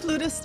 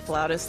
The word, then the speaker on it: flautist: Flutist, flautist, they're both in the dictionary.